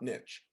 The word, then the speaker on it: niche: And I always say to my students in my classroom, we pronounce it niche, not niche. N-I-C-H-E, right?